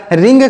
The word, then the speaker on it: wring: यहाँ पर W silent है, W को नहीं पढ़ा जाएगा। WRING लिखेंगे W को, लेकिन पढ़ेंगे इसे रिंग। इसे रिंग नहीं, इस तरीके से नहीं पढ़ेंगे, मतलब W का यहाँ पर प्रोनाउंसिएशन नहीं किया जाएगा।